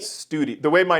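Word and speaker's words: Stude: u d e it's it's somebody's name but we we pronounced it study the way my name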